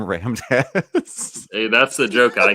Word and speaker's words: Ram Dass: It's pronounced rammed ass.